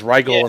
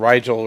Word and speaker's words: Riel: It says Ryel instead of Riel, right?